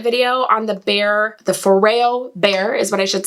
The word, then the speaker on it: Foreo: on the bear the foreo bear is what i should say i called it foreo the whole time because i didn't know how to pronounce it whoops but it's foreo and i really love